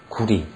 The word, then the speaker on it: 구리: 새벽을 밝혀올 검을 여자인데 국호로 할 때는 리로 발음합니다. 구리, 꼬리, 까오리 할 때 리자로 항상 끝나거든요.